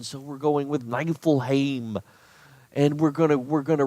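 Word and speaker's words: Niefelheim: I shame and then it's how it's pronounced night will Haim according to the old the the Scandinavian pronunciation so we're going with nine full Haim and we're gonna we're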